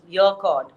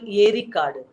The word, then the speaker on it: Yercaud: a tamil word which the britishers are kind of distorted mispronounces your chord but basically it's called erica erie is lake card is forest there's a beautiful lake